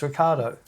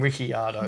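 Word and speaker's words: Ricciardo: Well, if you hear him say his name, it's Ricardo. Yeah. No, but there's just like there's oneird of the It might even be less than that. They call him Rickyardo.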